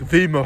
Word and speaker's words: Wimereux: beautiful nature here in Vio or like Vio like it's pronounced in French whatever so this is